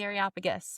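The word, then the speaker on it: Areopagus: you say that that Athenian place the Aropagus? Yes, the Aropagus.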